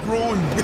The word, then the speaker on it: groin: He keeps saying, because he's putting so much syllables on this say shit. Groin, bro. That nigga put. There you go. That nigga put three syllables. No, he put three syllables. I was trying to pronunciate it. Y'all was like, wait, say it again. That's why I was like, groin, to get y'all to understand. No, like, bro, don't do that. It's fuck one syllable.